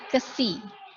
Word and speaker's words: xi: sebut dengan, ini nyebutnya KSI. Tulisannya XI, bacanya KSI.